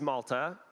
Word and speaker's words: Malta: My name is Malta. Yes, pronounced like the country, just spelled a little bit differently. Probably one of the few Maltas in the country, or in the state of Colorado here.